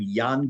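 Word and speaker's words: Jan: There's a book by a man named Yan Gross, spelled like J G- A.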